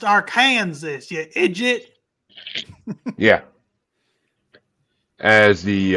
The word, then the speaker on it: Arkansas: think called uh isn't it killer clowns from Arkansas or something like that it's pronounced AR Kanas you idit yeah as the uh R next